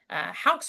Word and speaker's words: Houk: Houk's work, I said it right. You said it right the first time.